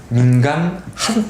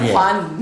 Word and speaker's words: 민관: 민간 핫라인 구축. 민간 핫라인 구축이 기술사 답안에 쓰기 좋은 키워드가 나옵니다. 좀 제대로 하는 것 같은데 민간 민간이에요. 민관이에요. 민관.